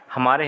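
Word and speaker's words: Homer: 20 में सही है होम आफ वर्ड्स तिल एंड डोरमेंट स्पेन सर यह जो होमर है इसको बोलो घूमर पड़ते हैं यह और इसमें साइलेंट होता है तो इसको होमा पढ़ा जाता है वर्क एंड डोंट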